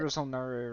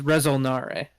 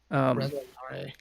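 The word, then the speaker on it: Resol'nare: I thought I it know was like that Rizalnare or something. it is Rezolnare. At least Yeah. that's how it's pronounced in the SWOTOR game. Rezolnare.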